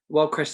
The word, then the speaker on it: Wyldecrest: And I pronounced the company name correct, right? Wyldecrest Services Ltd.